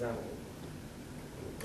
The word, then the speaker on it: XAML: It's pronounced XAML.